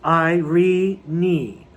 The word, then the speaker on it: Irene: british and american theater she pronounced her name given name with three syllables i re knee worth made her broadway